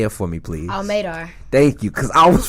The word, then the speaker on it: MADAR: Madar, I knew it. MADAR rhymes with radar, making a dream a reality.